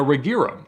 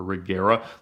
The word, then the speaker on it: Regera: an Aira RS and a regira or regera lots of different pronunciations but the cars from